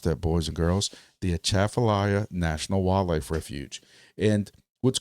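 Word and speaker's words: Atchafalaya: But there's also a national wildlife refuge, the Chaffallayia. And that's how you pronounce that, boys and girls. The Aafallayia National Wildlife Refuge.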